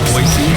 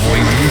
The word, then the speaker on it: Boise: But Boise, Idaho, and by the way, that's how you pronounce it, Boise, not Boise, which I did at the beginning.